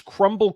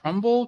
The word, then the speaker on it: Crumbl: Crumble Cookies. Yeah, it's spelled like a startup. It's missing some vowels. BL. Oh, I see. Yeah. Just one. Just missing one vowel.